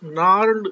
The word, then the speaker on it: gnarled: The stunted unlucky hair of twisted bones reciting a fathers नार्ड disease, GNARLED, इसमें जी silent है तो उसको कैसे बोलेंगे? नार्ड डिजीज।